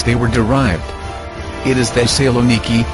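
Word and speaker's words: Thessaloniki: by the names they were derived it is the saloniki not Solen from Alexander to my grandfather my ancestors have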